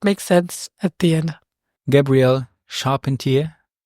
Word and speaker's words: Gabrielle Charpentier: Gabrielle Charpentier. Did I say it correctly? You said it correctly.